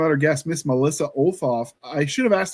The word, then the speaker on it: Olthoff: our guest, Miss Melissa Olaf, I should have asked how to pronounce that, but uh could you introduce yourself and say how to say your name? Hi, I'm Melissa Olaf. We ignore the H.